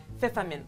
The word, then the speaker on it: Pfefferminz: Pfefferminz.